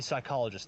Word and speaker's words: psychologist: ologist that would be psychologist the P at the start is silent okay can we take